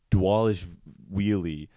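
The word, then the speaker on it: Dvalishvili: But Georgia, the country, his name is like Dwalish Wheelie, and like it's spelled D-V, but it's pronounced D-W.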